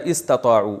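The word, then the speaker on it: استطاعوا: यह तुमसे लड़ते रहेंगे इनस्तू असल में था इन इस्तਤਾ तो मिला के पढ़ा दिया इनस्तु अलिफ साइलेंट हो गया अगर यह इस्ततात रखें इसकी इस्तताऊ असल में था इस्तवू इस्तखरजू की तरह लेकिन पढ़ा जाता है इस्तताऊ उर्दू में लफज़ इस्तेमाल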